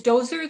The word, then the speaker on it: Dozer: Is Dozer the correct pronunciation? Yes, that is correct.